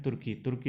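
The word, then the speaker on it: Türkiye: तुर्की ने अपना नाम बदल दिया है, उसका नाम हो गया है तुर्के। ये स्पेलिंग याद रखना, YE, तुर्के।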